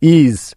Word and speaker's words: is: আবার দেখো, শব্দের শেষে ইএস থাকলে তার উচ্চারণটাও কিন্তু জ এর মতো হয়।